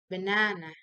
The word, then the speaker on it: banana: having this rest how you pronounce it it's pronounced banana so let's go to tips and tricks so